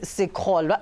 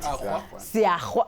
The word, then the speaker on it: Siakhwa: Just if you didn't know, right now I'm joined by Ubaba Rex Sikholwa. Am I saying it right? Siakhwa. Ha?